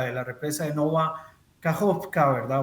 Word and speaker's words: Kajovka: En el caso específico de esta planta, de la represa de Nova Kajovka, ¿verdad? O Kayovka, como también se le pronuncia algunas veces.